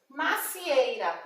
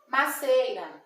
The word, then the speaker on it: macieira: Macieira, o pé da maçã é uma macieira, mas muitas vezes a gente ouve as pessoas falar maceira, maçanzeira, e está incorreta essa pronúncia.